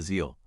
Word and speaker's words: Aziel: z first syllable a start with a soft relaxed a sound similar to the first sound in about second syllable C next